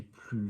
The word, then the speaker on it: plus: If you've lost if you broke your glass at the restaurant, j'ai plus de verre. It's very, very, very important that you do not pronounce the S at the end.